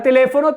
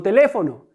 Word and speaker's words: teléfono: Ahora con la palabra teléfono tenemos no es mi última sílaba, fo mi penúltima sílaba y le mi antepenúltima sílaba. ¿Cuál es la sílaba tónica? Teléfono. Mi sílaba tónica es le.